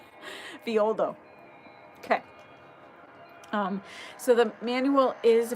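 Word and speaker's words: Villoldo: I used to pronounce his name wrong, so I'm sorry if you already received the rights from me and I kept saying Violdo. Those two L's. It's more of a Y. Violdo.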